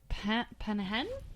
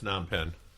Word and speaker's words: Phnom Penh: Penhen? Oh, it's Phnom Penh. Phnom Penh. Yeah, Phnom that's how it's Penh?